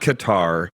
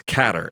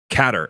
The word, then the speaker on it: Qatar: it out of the bag now it's not Qatar it's catter and our CEO Li zhenge informed me of that he's been there when did you realize that it's pronounced catter and are we going to get the whole